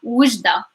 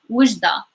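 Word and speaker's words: وجدة: Wujda, Wujda, W. So the W sound, Wujda.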